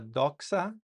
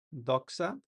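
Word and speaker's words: δόξα: La delta se pronuncia como una D, como en la palabra doxa, doxa.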